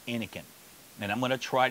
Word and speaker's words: Innokin: So anyway, I say and and Joey says Inken and a lot of people say Inkin. So I imagine that the name of the way the the the way you pronounce the company is Inken.